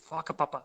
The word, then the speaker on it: whakapapa: natives of New Zealand, a W and a H is pronounced as a f, so an F. So whakatane, whanganui, whakapapa, that kind of stuff like that.